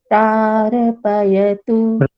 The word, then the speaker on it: प्रार्पयतु: तो ये प्रारपयतु नहीं बोलना है, इसको प्रार, रेफ को बोलते समय दबा देना है, क्योंकि प्रारपयतु जी।